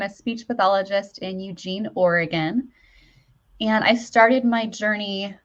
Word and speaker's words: Oregon: Oregon, right.